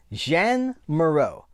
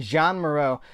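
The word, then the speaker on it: Jeanne Moreau: So if it was like Jean-Claude Van Damme is Jean, the feminine is Jeanne. So I'm going to go with that. Jean Maro.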